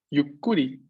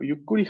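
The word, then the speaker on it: ゆっくり: Claramente el pequeño tsu estando antes de ku nos va a duplicar la k de ese ku.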